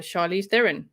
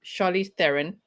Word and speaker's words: Charlize Theron: head um but once i actually flew uh charlize theron yep from uh from richard's bay to johannesburg